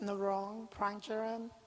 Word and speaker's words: Narong Prangcharoen: you say your name so you get the pronunciation right my name is narong prang jiren narong pranchoran there will be yes thank you welcome in